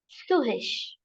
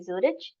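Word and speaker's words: Zürich: So this is Zurich. But in German, it's pronounced as Suhish. In Suhish. In Suhish. So you will see there is no mistake. It's not a mistake if you say Zurich. In German, Germans usually have a way of saying, um, pronouncing English words in a slightly different fashion.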